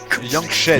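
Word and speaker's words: Yangchen: Ça s'écrit comment Yangshe? Yangshen. Yangshen. Y-A-N-G-C-H-E-N. Yangshe.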